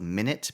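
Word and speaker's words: Minit: I think it's called Minute, but it's spelled like m I n it t.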